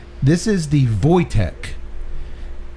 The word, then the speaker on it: Wojtek: - this is the Wojtek it is spelled wo j tek but i believe it's pronounced the polish pronunciation is Wojtek but we will call